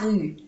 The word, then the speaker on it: rue: Rue, no se pronuncia la E.